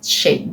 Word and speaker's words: Shea: Then I have this Shea I think this is pronounced Sheay because I saw someone talking about Shea Moisture. I think I think I finally found out how to pronounce this word.